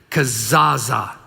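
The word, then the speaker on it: kezazah: Kazaza. Try it one more time. Ready? Kazaza. Yeah. And this ceremony, it's spelled K-E-Z-A-Z-A-H is how it's, so if you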